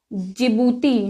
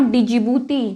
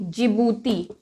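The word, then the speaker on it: Djibouti: Start शुरू होता है डी से, बट इसका प्रोनाउंसिएशन होता है जिबूती, नॉट डिजिबूती, जिबूती।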